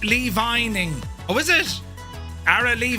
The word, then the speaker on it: Lee Vining: Uh pronounced Lee Vining.